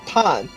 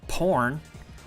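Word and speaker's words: Phan: like wait a minute your name is poor no it's pun then why do you spell it porn that's not how we say and Vietnamese get your mind out of the gutter if you think we actually say like porn I ain't which day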